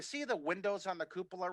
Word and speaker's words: cupola: i saw that picture of you and the cupola and i thought that would be a great